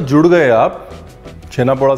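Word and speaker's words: ଛେନା ପୋଡ଼: इसका जो actual pronunciation है वो छेना पोड़ो ही है.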